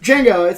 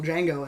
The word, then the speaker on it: Django: The D is silent, hillbilly.